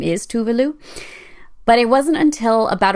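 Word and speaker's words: Tove Lo: is where we all learned that the Swedish pronunciation of her name is tuvalu but it wasn't until about a week ago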